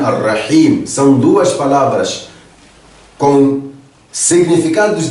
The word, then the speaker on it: Ar-Rahim: Meu irmão, minha irmã, aqui, nestes dois nomes, Ar-Rahman, Ar-Rahim, tal como você pode notar na pronúncia, Ar-Rahman, Ar-Rahim, são duas palavras com significados diferentes, mas com a mesma raiz.